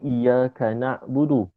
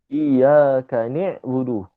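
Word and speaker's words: إياك نعبد: mana katakan dalam Fatihah orang baca I buudu sepatutnya iyaka na'budu sepatutnya iyaka na'budu tapi dia baca iyaka niuduudu Maksudnya Nun tu baris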